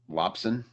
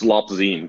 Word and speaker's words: Lopzine: Am I saying your name right? Lopson? It's Lopzine, but I don't blame you at all.